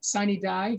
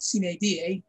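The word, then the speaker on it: sine die: a jury is to sign a die sometimes pronounced cna da which means without day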